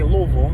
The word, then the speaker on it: Louisville: But anyway, my mom and I went to Cracker Barrel one year in Louisville, Kentucky, or as the locals say, Louisville, because I'm not from the state.